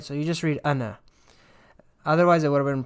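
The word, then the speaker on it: أنا: alif nun alif now here you don't pronounce the second alif right so you just read anna otherwise it would have been pronounced ana so this is pronounced anna and it means i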